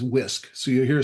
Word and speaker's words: WISC: And then you submit online at and Muhammad, we pronounce Wisconsin as WISC.